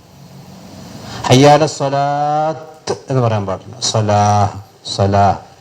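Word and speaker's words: صلاة: നമ്മൾ പറഞ്ഞിട്ടുണ്ട് ഹയ്യ അല സ്വലാത്ത് എന്ന് പറയാൻ പാടില്ല ഹയ്യ അലസ്വലാ എന്നാണ് പറയാൻ പാടില്ല അതായത് താ മർബൂത്ത വഖഫ് ചെയ്യുന്നത് നിർത്തുന്നതിന്റെ ഉച്ചാരണം അഹ എന്നായിരിക്കും ഹാ ഹയ്യാല സ്വലാത്ത് എന്ന് പറയാൻ പാടില്ല സ്വലാഹ് ആ ഈ താക്ക് പുള്ളി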